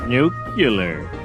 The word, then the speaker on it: nuclear: Nuclear. It's pronounced nuclear.